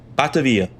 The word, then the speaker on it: Batavia: I I just got to pick one. Batavia. That's it. It From now on, Batavia, you'll never hear me say another pronunciation of that word. It is Batavia.